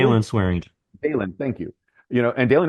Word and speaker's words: Swearingen: Am I pronouncing his name correctly? Dylan Swearingen.